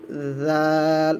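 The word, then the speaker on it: ذال: এটার নাম হয়ে যাবে জাল। নরম করে পড়বেন। জাল, জিব্বার আগা সামনের দাঁতের আগার সাথে লাগিয়ে, জিব্বার আগাটা সামনের দাঁতের আগার সাথে লাগিয়ে নরম করে উচ্চারণ করা হবে।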